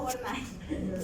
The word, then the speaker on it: Wernicke: Sí, se pronuncia Wernicke.